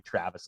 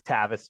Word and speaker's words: Tavis: At least you didn't call me Travis like half the people that have known me for years. So it is Tavis with no R.